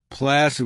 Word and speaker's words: placid: Placid with the S sound. The soft C, we use placid to describe someone who's very calm and isn't easily excited or annoyed.